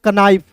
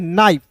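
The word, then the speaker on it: knife: है तो बहुत लोग इसे पढ़ लेते हैं कनाइफ नहीं दोस्तों इसे पढ़ते हैं नाइफ कैसे के जो है दोस्तों दोस्तों यहां पे हमेशा साइलेंट होता है।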